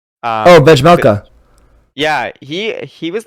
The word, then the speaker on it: Vejmelka: Vejmelka.